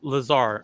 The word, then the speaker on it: Lazar: Lazar, okay. I pronounced it right.